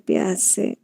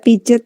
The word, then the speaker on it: Piaget: bias ya bias ya tulisannya biaget Bacanya pias jangan baca pijet ya pijet iya oke